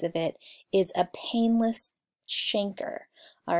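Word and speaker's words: chancre: it is a painless shanker all right it looks like the word canker but it's actually pronounced shanker in this case and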